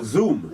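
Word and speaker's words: Xoom: as the iPad killer which is the zoo spelled with an X x o o n x o m sorry oh zoom zoom now this wonderful little tablet right kind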